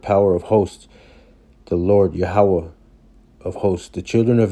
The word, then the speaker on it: Yahweh: you see it says Yahweh. There's no O or no V in the Paleo Hebrew. It's Yahweh.